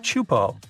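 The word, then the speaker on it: Teahupo'o: the name it's itself is a mouthful is pronounced chupo and it means broken skulls in tahan yeah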